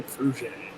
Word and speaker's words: Fruge: I say Fruge. Fruge. Kind of like a frappe.